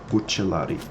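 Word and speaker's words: Bucellarii: Also, yes, that is the pronunciation. Bucellari. Because we're talking about Italian / Latin, blah blah blah.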